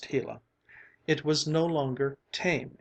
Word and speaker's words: gila: shone down on the gila monster pronounced hela it was no longer